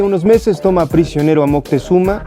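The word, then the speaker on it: Motecuhzoma: meses toma prisionero a Moctezuma el rey que en verdad se llamaba motekusoma pero a cortés de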